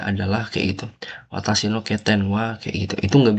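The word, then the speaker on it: 欠点: Ini bacanya apa? Bacanya Keten. Keten.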